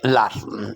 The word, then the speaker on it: learn: लर्न सीखने को कहते हैं, LEARN, लर्न। इसमें या तो आपने ए को साइलेंट करना है या ई को साइलेंट करना है। दोनों सूरतों में जो प्रोनाउंसिएशन होगा वो होगा लर्न, लर्न, लर्न।